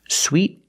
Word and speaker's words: suede: all the different pronunciations first sweet and Sweet these words are pronounced exactly the same but this word